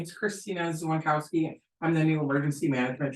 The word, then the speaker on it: Dzwonkowski: Zwankowski, common spelling? Hard to spell. Hard to say. DZWONKOWSKI. Oh, wow, you're a whole lot. So the D is silent. The SKI helps.